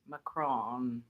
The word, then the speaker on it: macaron: And And so you got macaron, macaroon, macaron, macaroni, macaroni. I I get them all mixed up. Yeah. Mac Mcron. That's how you say it in in French.